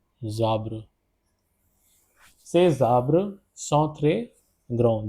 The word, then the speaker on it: ces arbres: Zabre will be the pronunciation over here because s will get connected with the j, so the pronunciation will be zabre.